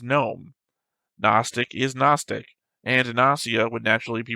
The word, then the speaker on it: Gnosia: The Japanese is Gnosia, Gnosia, and the official English dub keeps the hard G sound like Gnosia.